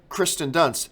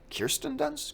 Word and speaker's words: Kirsten Dunst: And he's saying Kristen Dunst. And then he just starts going back and forth with himself. Kristen Dunst. Kirsten Dunst?